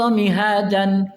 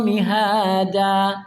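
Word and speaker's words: مهادا: Alam najalil ard mihajan wal jibala aadan walaqnakum azwajan. Nah itu karena tidak ditegur oleh guru, tidak diperbaiki oleh guru walaupun hafal. Alam naj'alil ard mihada. Harusnya begitu.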